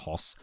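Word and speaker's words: Höss: AIT commandant Rudolph hos I believe it's pronounced hos and his wife Hedwig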